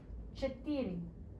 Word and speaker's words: четыре: Четыре.